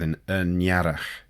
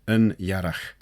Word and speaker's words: y niarragh: And that makes the 'n' in the 'yn' turn into and we get 'y niarragh'. And that's how Rhys recorded the pronunciation from some native speaker - 'y niarragh'.